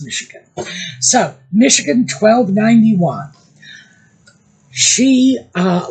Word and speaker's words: Michigan: blame them it looks like it should be pronounced Michigan but it's not it's Michigan so Michigan 1291 she uh let me know